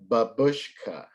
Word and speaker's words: babushka: read um thunder cake to you bub it's pronounced babushka bush how many syllables would i have bad